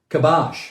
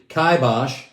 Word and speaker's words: kibosh: urban show and today's where the day is kibash or if we're in the uk kaibash it's spelled k-i-b-o-s-h as a noun kabash what does